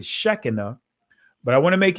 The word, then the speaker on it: Shekinah: shekinah uh in uh the israeli language is it will pronounce it shechena but i want to